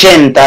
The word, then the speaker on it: Genta: Bueno, mi Facebook es Genta, en realidad es Genta del apellido, pero se escribe Genta como gente, pero con A al final.